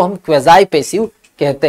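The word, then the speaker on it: quasi: बेटा ये है क्वेजाई पेसिव, ये क्या है, क्वेजाई पेसिव। क्वासी कुछ लोग पढ़ते हैं जो कि बिल्कुल गलत प्रोनाउंसिएशन होता है, इसे बोला जाता है क्वेजाई पेसिव।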